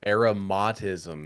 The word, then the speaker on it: aromatism: And that's like Aromatism is how it is pronounced.